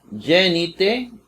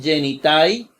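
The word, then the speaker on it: γίνεται: Pero se escribe como diptongo ai. Aquí no escribe genitai, sino genite. Nada más como se pronuncia.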